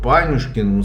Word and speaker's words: Панюшкин: А вот Панюшкин сложно произносить. Во-первых, они ударение ставят на середину, а во-вторых, не сразу все это произносят.